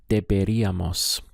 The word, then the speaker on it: deberíamos: Let's go through the syllables. We have de, be, deberíamos. Deberíamos. Notice we have the accent over the I. This is where we place our stress on the word, on the pronunciation.